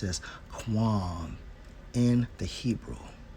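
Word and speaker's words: קוּם: Now, when we focus on I will raise up, and it's Strong's H6965, pronounced as Quam in the Hebrew, right?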